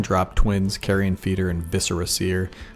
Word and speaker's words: Viscera: feeder and viscera seer i don't know what people are thinking with the pronunciation of viscera seer but visceral is pronounced like that and viscera means guts so i think i'm pronouncing it correctly unless it's spelled backwards